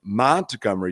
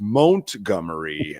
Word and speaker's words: Montgomery: by the way uh you were pronouncing that name um Montgomery it's Montgomery um so you're a big